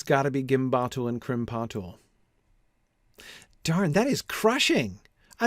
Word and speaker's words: krimpatul: If krimpatul has its emphasis on the second syllable, then exactly the thing that I was noticing. Achburzum ishi krimpatul. That two unstressed syllables in a row sounds awkward. I can't avoid the awkwardness there.